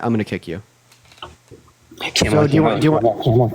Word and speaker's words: Kamala: Okay, so if you don't pronounce her name right, I'm going to kick you. Kamala, do you want? Kamala.